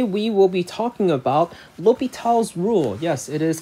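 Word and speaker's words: L'Hôpital: will be talking about l'hopital's rule yes it is called l'hopital's rule is how it's pronounced uh not the hospital rule because it is french in addition to that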